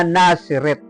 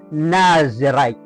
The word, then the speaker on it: Nazarite: Meron pong tinatawag na nasaret at Actually ang bigkas nga diyan Ay nazarite ayan iba naman po yung